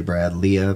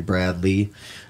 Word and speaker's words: Brad Leah: Brad Lee, his name is spelled Leah, so you want to say Brad Leah, but it's actually Brad Lee.